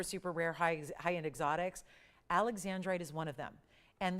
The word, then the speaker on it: Alexandrite: just like it's written you pronounce it Alexandrite so um little confusing sometimes because there was a zar Alexander but it's not Alexander it's Alexandri so again they shorten